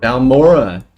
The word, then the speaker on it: Balmora: Balmora? It's like Balfoyen, Balmora. Get it right, god.